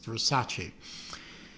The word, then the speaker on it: Versace: correct the um main characters uh pronouncing of the word vers Versace or something like that they say no dear it's Versace so um what I